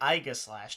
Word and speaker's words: Aegislash: Just a heads up, in Latin, Aegis is A-E is pronounced Aegis. So anybody that wants to argue that, it should be Aegislash, technically.